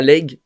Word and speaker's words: Leygue: Mais du coup, si je prononce bien, Thomas Legge.